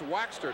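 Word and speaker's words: Waechter: He said, it's Waxter, just like beeswax.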